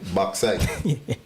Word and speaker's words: bauxite: Bauxite is a Almost sounded like you're saying backside. So I was like, wait, what? oh, well, maybe it's my Guyanese accent. I don't know how to say it otherwise. You said it correctly.